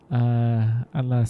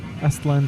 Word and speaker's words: Aztlan: probably going to be Atlas Central. That's where it has been. Select the most profitable destination, which is, yep, Atlas Central. Aztlan Central. Gosh, I keep pronouncing it wrong.